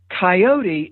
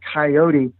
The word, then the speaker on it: coyote: and heard this term coyote. And I think they maybe decided it was a little too fancy for them. So they simplified it to just two syllables, to coyote.